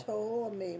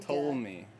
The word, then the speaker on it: Ptolemy: Spell it. How do you say that? Oh, God. P-T-O-L-L. Ptolemy, my God. Ptolemy.